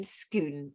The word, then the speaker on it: Scone: the time the capital his capital was in schoon now it is spelt like scone scone like a biscuit